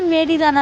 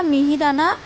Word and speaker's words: মিহিদানা: ও বলছে মেরিদানা মেরিদানা। তারপরে অনেক বলার পরে যখন বলছি ওটা মেরিদানা না মিহিদানা তখনও বলছে যে কি মিহি